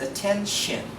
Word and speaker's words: attention: This one, T-I-O-N, must be pronounced as attention and then connection. If you would notice, I pronounce T-I-O-N as soft shen, as in S-H-E-N. Again, attention, connection.